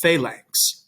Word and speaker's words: phalanx: understand about is that when you have an n before the letters c g or x it makes a sound like an ng in english so think of the word hang in english it's making an sound right so down below in latin we have longus winco and phalanx right the inks sound and phalanx right my